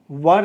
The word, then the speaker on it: were: और वर है, तो यहाँ पे WERE को बहुत सारा स्टूडेंट जो है वेयर पढ़ लेते हैं। तो इसका करेक्ट प्रोनाउंसिएशन वर है, तो आप लोग वर पढ़ेंगे तो ज़्यादा बेटर होगा।